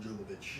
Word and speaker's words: Jovovich: Mila Jovovich. Mila Jovovich. Jovovich. I know it's with a J, but they only pronounce it with a Y.